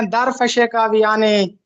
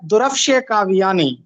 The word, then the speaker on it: درفش کاویانی: درفش کاویانی، اس کا تلفظ اکثر لوگ غلط بولتے ہیں، اس کو کچھ لوگ کہتے ہیں درفش کاویانی، کچھ لوگ کہتے ہیں درفش کاویانی، لیکن درست تلفظ ہے درفش کاویانی۔ یہ کاو یا کارویش